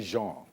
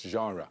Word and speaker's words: genre: Genre. Yes. Is that how it's pronounced? Yes. Because some people say genre. No. It's genre. Yes. There you go.